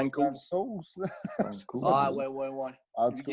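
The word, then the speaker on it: Francouz: Ben là, ça s'écrit Frantouz, mais ça a l'air que ça se dit Fransos.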